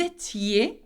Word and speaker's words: étiez: Vous étiez, okay, remember I-E-Z, make sure that you pronounce the I.